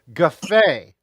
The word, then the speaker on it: Guffei: Guffei.